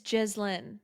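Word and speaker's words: Ghislaine: It's not Jill. It was never It's Jizlin.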